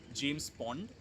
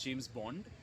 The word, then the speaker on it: James Pond: called which is called James Pond which a lot of people actually mispronounced as James Bond and so we here